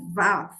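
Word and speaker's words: ו: Pronuncia-se va e tem o som de V como videira.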